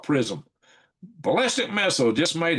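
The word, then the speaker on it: PrSM: And now America's new prism, p r s m is called prism.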